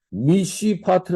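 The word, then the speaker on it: מִשְׁפָּט: 이건 도살 압제하는 뜻인데 성경이 재밌게도 발음이 거의 유사합니다 미시 미스파 즉 우리가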